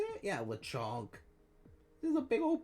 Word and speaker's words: Lechonk: Yeah, Lechonk.